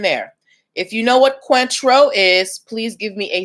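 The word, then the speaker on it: Cointreau: ask um have you guys ever heard of quintro c-o-i-n-t-r-e-a-u it is a liqueur not a liquor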